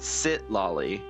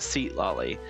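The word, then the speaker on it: Citlali: saying her name wrong it's sit lolly not seat lolly And I said, "Okay, well, I'm just going off the translation that the game like the the pronunciation that the game uses, which is seat loi."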